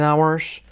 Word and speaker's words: hours: Does a movie last 10 hours? Does a movie last 10 hours? Ahora la H no se pronuncia, ¿vale? Hours.